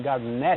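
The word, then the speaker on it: Garnett: tem sido interessante a briga dele com Kevin Garnet exatamente certo Garnet Garnet eu recebi recebi um eil é gnet a pronúncia correta E é verdade mesmo tá certo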